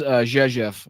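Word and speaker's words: Rzeszów: So here's Jezef. I know it doesn't sound like it's it's pronounced like that, but that is how it's pronounced.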